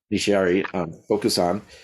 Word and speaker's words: Nishiari Bokusan: His thesis research focused on Nishiari, you help me with the pronunciation? Nishiari Bokusan, and the development of Soto Zen in Japan during the Meiji Period, which is 1868 to 1912.